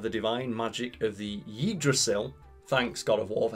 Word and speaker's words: Yggdrasil: When promised limitless power by a mental avatar of the divine magic of the Yggdrasil, thanks God of War for helping me pronounce that word properly.